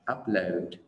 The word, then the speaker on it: upload: Đọc upload, upload, trọng âm rơi vào âm tiết đầu tiên mình sẽ đọc là upload và download, upload, download, nhưng